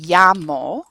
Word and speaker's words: llamo: The double L in Spanish is standardly pronounced as a y, as a y sound. So when you say me llamo, my name is literally, you're saying I call myself, me llamo.